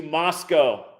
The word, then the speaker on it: Moscow: And I'll keep you posted on the trip out to Moscow. That is the real right way to say it.